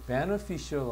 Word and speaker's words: beneficial: 그 다음에 요것도 발음을 좀 잘 봐야 되는 게 beneficial 하면 이익이나 이로움을 줄 때 쓰는 말이야. beneficial. 근데 여기는 보면 이 bene라고 발음을 해야 돼.